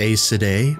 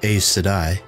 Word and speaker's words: Aes Sedai: one power were called eyes sedai this was the symbol of the i said i the term i said i also sometimes pronounced a cidae or a sedai means servant or servants